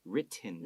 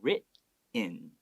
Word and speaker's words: written: That's the more natural way of pronouncing that word.